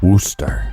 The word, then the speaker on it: Worcester: I think it's pronounced Worcester.